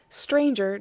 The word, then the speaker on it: stranger: and sum and home stranger does not rhyme with anger neither does devour with